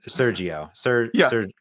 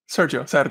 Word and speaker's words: Sergio: I can't pronounce your name, Sergio. Sergio.